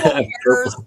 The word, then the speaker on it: Harez: purple purple say say the name again purple hairs Garden purple hairs Gardens I like the spelling